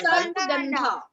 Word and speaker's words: Sarpagandha: Sarpaganda. okay it is sarpagandha Sarpaganda. What are you pronouncing, Arishal? Sarpagandha. What is that? It's Sarpagandha. Sarpaganda. Everybody say Sarpagandha.